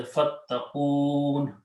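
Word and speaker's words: فاتقون: When you stop at the ayat, you do not pronounce this kasra, you say fattaqoon.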